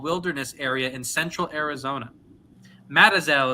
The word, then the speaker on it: Mazatzal: going to butcher this, Mazatzal, Mazatzal, Mazatzal Wilderness Area in central Arizona. Matazel is how it says pronounced. I said that wrong.